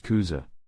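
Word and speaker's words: 草: This Chinese characters means grass, and in Japanese it is pronounced kuza. This is the kunyomi reading.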